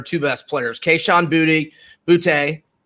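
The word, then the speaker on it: Boutte: without question they're two best players keishan booty booty rhymes with a twofey and uh and um uh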